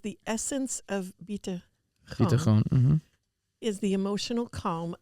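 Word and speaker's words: ביטחון: So, Rabbi, it's the bitachon?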